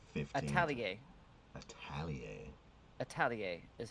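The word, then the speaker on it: atelier: Italier is how you pronounce it. Okay. And that is Italier.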